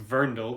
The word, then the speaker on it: Werndl: by well it's the verndell uh w e r n d l uh pronounced verndle because w makes the v sound in germanic languages and so the verndell